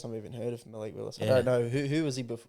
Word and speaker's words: Willis: This is the first time I've even heard of Malik Willis. Yeah. I don't know who was he before. well, it just rhymes with Will Levis.